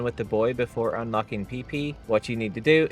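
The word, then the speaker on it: Pepy: Okay, first up, we are going to do the PP anomaly. That is spelled P E P Y.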